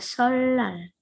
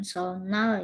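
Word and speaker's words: 설날: Lalu ada solal. Solal, ya ini bacanya bukan solnal ya.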